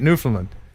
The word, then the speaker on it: Newfoundland: newfoundland drones and that's how you say it newfoundland uh with a canadian five bucks thank you